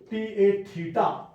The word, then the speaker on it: theta: हैं, जैसे ये थीटा, ये इसको मैं पढ़ूंगा रीड करूंगा थीटा, THETA, थीटा, इसका प्रोनाउंसिएशन होगा थीटा।